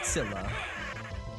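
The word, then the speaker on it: Scylla: skill tail skill's tail in Greek it's skila gotcha okay so skila and caribdis in English we typically say Sila but you know obviously English speaking foreign languages is is ridiculous so all right we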